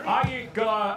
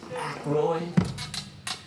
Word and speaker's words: Aykroyd: Chevy Chase, Gilda Radner, Dan Ayika. How the fuck do you pronounce this? Aykroyd.